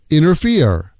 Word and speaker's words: interfere: Interfere. Interfere becomes inerfere. Inerfer. I wish you wouldn't inerfere with my personal situation.